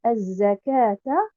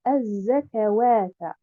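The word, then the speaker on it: الزكاة: Donc, je devrais dire az-zakata et non pas az-zakawata.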